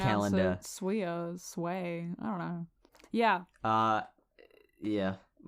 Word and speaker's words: SWEA: I don't like the way you SWEA pronounce calendar. it. SWEA, sway.